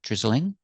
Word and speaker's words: drizzling: Remember, drizzling has 2 pronunciations. I can make it 3 syllables, drizzling, drizzling, drizzling, or I can make it 2 syllables, drizzling, drizzling. Both are correct.